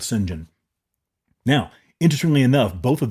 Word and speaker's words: St. John: I believe his name was uh Singen or something like that. It was kind of a weird pronunciation of St. John as I think as how it was uh printed or written, but it was called Singen.